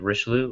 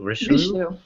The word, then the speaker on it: Richelieu: Richelieu? Richelieu.